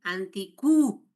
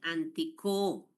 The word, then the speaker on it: antico: Fíjense, jóvenes, que no dice anticú, dice antico.